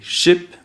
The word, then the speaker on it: ship: Vous avez sheep, qui est un mouton. Et ship, qui est un bateau. Donc je répète les deux mots. Sheep, ship.